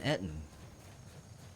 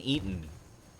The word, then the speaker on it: Ettin: wildlife is attacking him that is an etine or an eaton even though i hate when people pronounce it like that because it makes it sound like you're you're eating food it's an etin a two-headed etin that